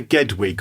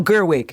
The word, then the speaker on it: Gerwig: Is it Greta Gedwig or something? I can't remember how you pronounce it. Gedwig, I think it's Gedwig. It's something like that, yes. No, Gerwig. Gerwig, thank you.